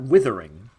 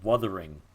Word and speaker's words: Wuthering: It's not Withering, because it's with a W. It's with a W. It's with a U. So it's Wuthering.